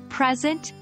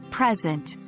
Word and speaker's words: present: capture sounds or images present and present present present with stress on the first syllable is a noun but when the stress shifts to the second syllable present it becomes a verb remember these are just